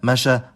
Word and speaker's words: مشى: This is the case with the verb masha, meaning walk.